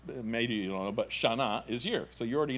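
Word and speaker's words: שנה: Shana. Very good. Tova. Tova, like T-O-V-A. Tova. Shana Tova.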